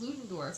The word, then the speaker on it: Ludendorff: Ludendorff.